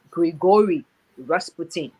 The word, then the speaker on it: Grigory Rasputin: caused all the confusion his name is actually grigory rasputin that's his name so here's my final word